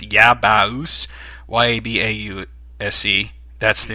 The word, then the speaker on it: Yabause: For the Saturn, which I've only done one video, I have, I don't even know how to say this, but it's Yabaus, YABAUSE.